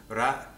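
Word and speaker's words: ر: for you to learn ra is a flap your tongue flicks the top of your gums just behind your teeth that's called the alveolar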